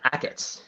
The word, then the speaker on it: Achatz: Am I pronouncing his name right? Acats, yeah, Ackitts.